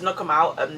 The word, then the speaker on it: Knockemout: It sounds like Knock Them Out, but it's Knockemout town anyway.